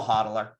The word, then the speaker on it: HODL: I'm a hodler, holder. We say hodl. HODL is hold. That's how we spell it in crypto.